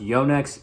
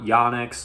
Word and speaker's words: Yonex: to use from the company yonix yes it's pronounced Yonex it is a Japanese company it is not yanx like you may hear the official pronunciation from